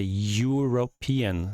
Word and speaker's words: European: And for example, if you have European, it begins with a vowel, but the vowel is not pronounced. We pronounce it not E, but we say European.